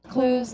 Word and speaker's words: clues: 클루 이게 아니라 클 이렇게 할 수 있다는 얘기야. 클 한 방이에요. clues.